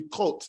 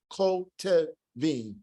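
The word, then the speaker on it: כותבים: So this wouldn't be kot, as I said earlier. Kot, it doesn't join together. Kotevim, kotevim, kotevim, because it's following a long vowel.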